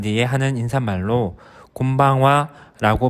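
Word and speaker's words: こんばんは: 인사는 저녁 인사입니다 해가지고 난 뒤에 하는 인사말로 곰방와라고 발음합니다 뜻을 일본어로 직역하면 오늘 저녁은라는 뜻이 됩니다 저녁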